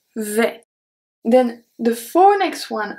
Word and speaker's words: vais: So here, for the first one, je vais, the S is not pronounced. Je vais.